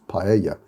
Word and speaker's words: paella: pizza sorry it's paella which in spanish double l would be pronounced paella so when you see